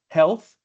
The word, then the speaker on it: health: And also another one that I noticed the most was uh um health. Health. Remember the th sound at the very end.